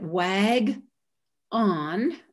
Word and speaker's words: wagon: You swallowed that vowel. You made it into an indistinct vowel that had the stuffing taken out of it. That's called schwa.